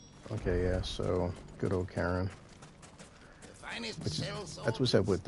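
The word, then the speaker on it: Charon: When I first seen the name Karen, it was CH, so I thought, you know, Sharon or Sharon. The gentleman of the town guard. CH to me is like an S, but the fact that they do CH as K for Karen, like, all right, well.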